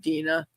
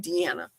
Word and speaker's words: Dina: Well, I thank you so much, Dina. And I'm thankful that Brian told me your pronunciation of your name because I kept calling you Deanna.